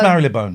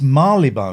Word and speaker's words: Marylebone: It's not pronounced Marylebone. I know. It's Marylebone.